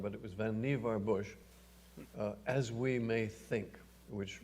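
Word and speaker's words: Vannevar Bush: canonical article by van nevar bush most people pronounce it vaniver but it was vanivar bush as we may think which ran first in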